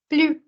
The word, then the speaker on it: plus: Plus. It's plus. It's not pli. Please don't mispronounce.